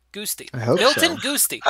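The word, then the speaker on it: Guasti: G-U-A-S-T. T-I. Goosty. Yeah, that sounds better. Goosty.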